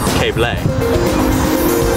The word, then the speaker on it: Keble: Keble College. Actually, it's pronounced Cable.